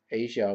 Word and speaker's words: Aja: si a but was like twist I guess Asia was the name that as far as I